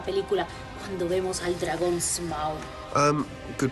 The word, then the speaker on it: Smaug: Llévanos a la secuencia más importante de la película, cuando vemos al dragón Smaug. Good pronunciation.